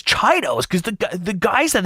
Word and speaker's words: Chiodos: called the chiota brothers but drew pronounces his name chido so like the band's name is chidos and he refused to call it anything other than chidos even though no one else in the world did but to him it was so important that everyone knew the actual pronunciation was chidos and um there are